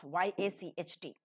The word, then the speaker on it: yacht: Supposing you have yacht, Y-A-C-H-T. It begins with E and ends with O, which is back between open and half open, unrounded, slightly rounded, short vowel, yacht.